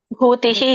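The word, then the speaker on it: ಭೂತಿಃ: ಕೃಷ್ಣೋ ಯತ್ರ ಪಾರ್ಥೋ ಧನುರ್ಧರಹ ತತ್ರಶ್ರೀ ವಿಜಯೋಭೂತಿ ಧ್ರುವನಿತಿರ್ಮತಿರ್ಮ ಭೂತಿಹಿ ಮಾತಾಜಿಲಿ ಭೂತಿಹಿ ಧ್ರುವ ರೇಣುಕ ಮಾತಾಜಿ ಹರೇ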